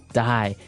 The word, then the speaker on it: dye: Okay, dye. So it's pronounced exactly the same way as, to die, to not live anymore.